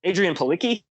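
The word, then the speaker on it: Adrianne Palicki: And so, like, my first thought was Adrienne Palicki.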